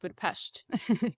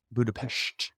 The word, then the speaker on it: Budapest: But yeah, I'm going to Budapest, and actually, you pronounce it Budapest. Budapest.